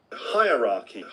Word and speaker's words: hierarchy: Hierarchy. 3 parts which rhyme with higher, ra, key.